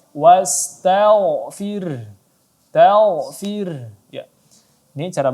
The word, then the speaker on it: واستغفره: Ya, kita baca tebal tidak dibaca wastagh, tapi dibaca tebal. Wastaghfir.